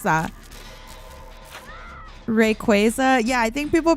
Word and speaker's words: Rayquaza: How do people say it? I think it's re rayquaza. I think people say. Isn't that what people say? Rayquaza or something? How do you guys pre pronounce that? Rayquaza.